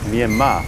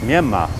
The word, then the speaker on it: Myanmar: Some people say Myanmar, some people say Myanmar, but in fact the R on the end is a silent R.